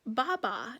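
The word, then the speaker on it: 八八: Day is August 8th that date is 8 8 pronounced Baba in Chinese and Baba in Chinese is Chinese for father Father's Day is a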